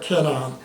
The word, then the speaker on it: 가나안: 가나안의 히브리어 원래 발음은 캐나안이에요. 캐나안.